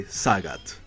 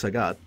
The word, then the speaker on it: Sagat: When I was a kid, or when we all were a kid, we called this guy Sagat. I guess the pronunciation is Sagat.